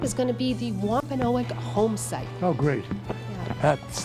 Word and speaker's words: Wampanoag: do you pronounce that Wampanoag Wampanoag yeah Wampanoag Wampanoag okay I've heard it's actually been pronounced in two different ways depending on which Community you are in whether it's a quinner